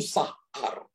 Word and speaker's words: sahar: Kata gate di sini, pintu, dari bahasa Ibrani itu sahar. Sahar, saudara ya.